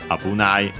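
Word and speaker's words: 危ない: But yeah, fundamental meaning, dangerous, unaccented, Abunai.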